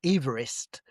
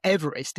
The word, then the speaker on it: Everest: And he pronounced his name he pronounced his name Everest. Um, so we shouldn't even be calling it Everest even if we uh That's fascinating. We should probably call it Chumala, but Everest is absolutely the wrong thing because Yeah, absolutely.